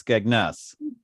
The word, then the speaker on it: Skegness: you have to but you have to emphasize the second syllable so it's skegness yeah you guys do